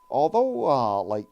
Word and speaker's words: Li: Actually pronounced Bruce Lee, like Li, but most people pronounce it Bruce Lee because it is a lie.